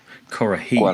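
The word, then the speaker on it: Kuarahy: Is that how I pronounce it? Kurahei.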